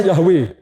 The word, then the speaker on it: Yahweh: Dalam bahasa Ibrani, kata aku adalah aku itu Y-H-W-H. Itu dibacanya Yahweh.